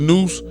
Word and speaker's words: nous: Nous, pronounced nous, whose right name is Nupu, is intellect, pure intelligence, and sound right reason.